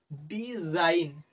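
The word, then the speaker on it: design: লিখা দেখ এস আইজি এন আমরা কিভাবে ইংরেজিকে উচ্চারণ করব ডি এস আইজি N Zain ডিজাইন ডিজাইন আর ই রি এস আই জি এন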